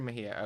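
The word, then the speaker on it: Mejía: Henry Mejia.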